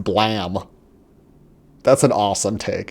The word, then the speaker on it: Blame!: okay so who cares it's pronounced blam that's an awesome take